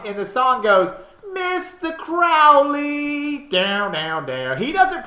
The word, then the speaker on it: Crowley: First of all, it's Crowley. Crowley. Crowley, not Crowley.